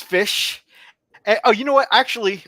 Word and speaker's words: Ghoti: Ghoti, as it's spelled on the screen there. It's Fish.